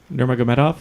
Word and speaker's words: Nurmagomedov: It is Khabib Nurmagomedov. Oh, yeah. I wouldn't even been able to spell that. Gonna be a real barn burner, I bet. Ken couldn't even say it. Yeah. Nurmagomedov. Okay. Nurmagomedov, right? Nurmagomedov?